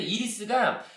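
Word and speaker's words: Iris: 근데 이리스가 이게 그 이제 우리 아이리스라고 영어식 발음은 아이리스, 그죠? 이리스.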